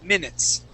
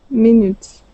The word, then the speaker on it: minutes: eyes within within okay also in the word minutes M minutes minutes good okay so uh